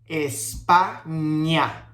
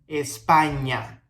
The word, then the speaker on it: España: we see a ñ, we're going to say ña, ña, ña, ñe, ñi, ño, ñu. Okay, that's the sounds of the ñ with all the different vowels. In this case, we have España, España.